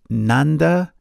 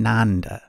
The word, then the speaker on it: Nanda: They were named Nanda and Nanda. Note that while the English spelling is the same, the pronunciation is different. Nanda, Nanda.